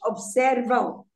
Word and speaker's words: observam: But it's when it's at the end of a syllable, it always makes the sound nasal.